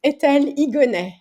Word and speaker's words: Etelle Higonnet: Etelle Higonnet. It's one of those Higonnet. things where in France we have a silent H, like hotel becomes Yeah, hotel, and at the end of words, T also becomes silent.